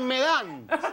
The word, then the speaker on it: Medán: Medán.